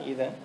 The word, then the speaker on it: Eden: Eden, 에덴이 아니라 Eden 이렇게 발음하는데, 성경에서는 새하늘과 새 땅이 어떤 곳인지 어떻게 나왔는지 한번 같이 보도록 하겠습니다.